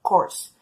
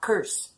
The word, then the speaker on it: course: Em inglês, ela é pronunciada course, mas o brasileiro tem o vício de falar curse, que significa maldição, e é completamente diferente.